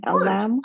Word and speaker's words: lamb: Silent B in lamb.